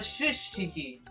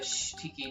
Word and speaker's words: Shh Tiki: Coming up here, this is a Shush Tiki. Actually, it's a Shh Tiki, not a Shush Tiki. I got the name wrong.